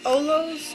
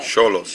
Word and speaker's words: Xolos: It's pronounced Olos? No. Cholos. Cholos. And that is a dialect of Aztec, Mexico. cultures, Yeah, it's spelled Xolos.